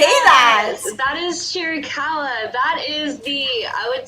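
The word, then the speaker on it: Chiricahua: about how do you say that that is chiricala that is the i would say main destination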